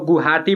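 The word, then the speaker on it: Guwahati: ना गुआ हाटी लिखा जाता है लेकिन इसको गुवाहाटी बोला जाता है वह साइलेंट रहता है तो गुवाहाटी किस नदी के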